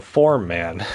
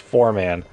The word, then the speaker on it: Foreman: That's why they call me the Form Man. It's actually pronounced Foreman, but my way is way funnier.